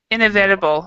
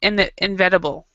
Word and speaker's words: inevitable: Okay, the word is what we do is we pronounce it inevitable. This is for me. This is a difficult word for me because I always pronounce it inevitable, but it's inevitable.